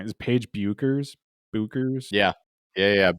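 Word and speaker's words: Bueckers: Is Paige Buchers? Buchers? Yeah. Yeah, Buchers or Becker it's almost like Becker's, actually.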